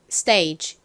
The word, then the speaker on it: stage: 건데요 S 뒤에가 오니까 좀 세게 쌍디 그처럼 발음해 주셔야 되죠 스이 stage 좋습니다 같이 써 볼게요 그리고 D 다음에 h